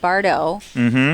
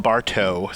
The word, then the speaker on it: Bardo: the cupid shufflers against bardo from spf who i called bartow i get it wrong all the time his name is bart